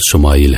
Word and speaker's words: اسماعیل: خوشخبری سنا دی گئی۔ عبرانی زبان میں اسماعیل کا تلفظ شمائل ہے۔ شما کے معنی ہے